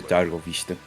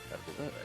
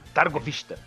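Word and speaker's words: Târgoviște: cidades maiores de Valáquia ou de de de dargovista. Targovista.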